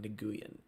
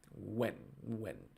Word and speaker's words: Nguyen: I don't know how to pronounce that perfectly, but I know it's not Nguyen. I know it's like when.